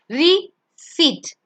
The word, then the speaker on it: receipt: You and the next one, when C comes, you have to pronounce the word receipt. Receipt. So EI becomes silent over there.